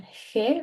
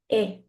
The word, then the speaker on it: he: In Spanish, the h is silent. Okay? So this is not he or he. This is going to be e, just e.